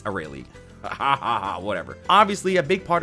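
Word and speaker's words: Arale: I even pronounced her name Errol until I saw how it was heard recently. Funny enough, I've been saying Errol my whole life. It's Aurelie.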